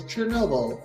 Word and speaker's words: Chernobyl: It is Chernobyl.